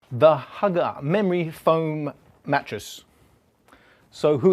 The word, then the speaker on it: HÜGGE: Now, personally, I keep finding myself saying Huggy. I keep seeing the E at the end.